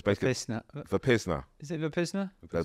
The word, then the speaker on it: Vipassana: I've got to go on, I can never pronounce it right. I'm going to say Vasapiana, but I'm going to get it wrong. But it's basically Vipassana.